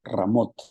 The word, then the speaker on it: Ramot: la ciudad de ramot en el hebreo Pues también así se lee ramot y ramot lo que